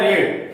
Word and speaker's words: read: Spelling वही है बट इसका उच्चारण होता है रेड। Spelling is READ बट इन V2 it's pronunciation is रेड, तो इसको हम रेड पढ़ेंगे।